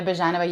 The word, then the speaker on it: Byezhanova: you do um so my name is bajanava you pronounce that so well and that warms my